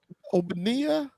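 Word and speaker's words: Ogbonnia: If I had to guess, is Ogbonia. Obania. That's it. Root right. That's it. That's exactly what it is.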